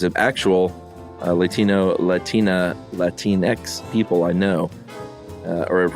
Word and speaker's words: Latinx: clarify a few things you brought up um l-a-t-i-n-x is pronounced she says Latin X okay uh it